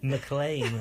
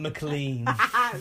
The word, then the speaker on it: McLean: McLean, apparently, not McLean. Mean McLean. Mean McLean. But mean doesn't rhyme with McLean.